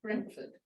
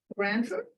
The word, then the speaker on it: Brentford: book is called Brentford which when you pronounce it in English sounds like Brentford however after I'd written